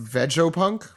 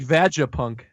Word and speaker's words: Vegapunk: pronounced Vegopunk.